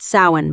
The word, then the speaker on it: Samhain: It's pronounced sin, by the way.